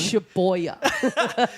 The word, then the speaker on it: Shibuya: Shibuya. Shibuya. Christ. Every time you get to the station, you got to like, comment, and subscribe. Shibuya.